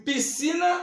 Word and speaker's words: piscina: não tá e piscina eu pronuncio piscinas ou piscina então eu não pronunciei o s eu pronuncio Pi